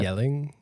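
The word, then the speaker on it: Jelling: Yelling? No. Okay. I won't say it right in the Danish way, but it's like the Yelling Stones where like that's great.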